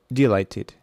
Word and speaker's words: delighted: Number nine, delighted, delighted. So the second syllable is stressed.